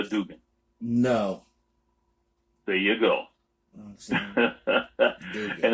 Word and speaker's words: Dugin: Dugan. And it's not spelled the way you think because he's Russian. So it's spelled Aleskandr.